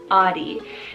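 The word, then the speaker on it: Ottie: name audi spell o t t i e audi now this one's a german variant meaning strong-willed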